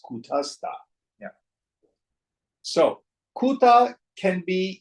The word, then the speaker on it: Kutastha: It's not Kutusta, it's Kutasta.